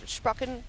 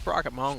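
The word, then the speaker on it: Sprocketmonger: Minx likes to call it Sprocken. She said it was such a German accent. Sprocket mushroom. I mean, she can mispronounce however she wants, but it's fine. It'll make a difference. It's Said it with Sprocket an Monger. accent actually. It's Sprocket Monger.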